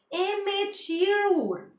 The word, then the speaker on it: amateur: Amateur. Amateur, not amateur, that is amateur. Amateur or amateur. T will be silent in some pronunciation, that is amateur. T would silent.